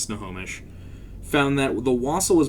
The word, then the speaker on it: Snohomish: those of you outside of washington it is pronounced snohomish found that the wassel was based on the